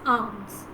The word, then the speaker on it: alms: Okay, so the word is pronounced as arms. So these are my arms, A-R-M-S, arms. Okay, so arms, A-R-M-S, arms. Another arms, A-L-M-S, arms.